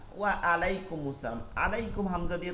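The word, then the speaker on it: وعليكم السلام: আবার উত্তরের সময় বলতেছেন ওয়া, ঠোঁটটা গোল করে, ওয়া আলাই, ওয়া আ, ওয়া আলাইকুম আসসালাম। আলাইকুম হামজা দিয়ে তো উচ্চারণের অর্থ হইল না, হবে কি আইন থেকে,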